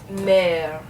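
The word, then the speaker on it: mère: a little bit so in the word mer mer okay so notice here you have two different e's now this is silent no exit mark this is an excellent graph and it's going to make it sound like it's going down a little bit so notice my my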